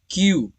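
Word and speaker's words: cue: का साउंड है क, और यू ई ये दोनों मिलाकर हमें यू पढ़ना है, इसमें ई को नहीं पढ़ना है। ई साइलेंट रहेगा लेकिन लिखा जरूर जाएगा। इसके स्पेलिंग्स में ई लिखा जाएगा लेकिन पढ़ा नहीं जाएगा। ये हो गया क्यू।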